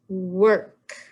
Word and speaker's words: work: this one here now the or is tricky it doesn't sound like or it says er work all right so there you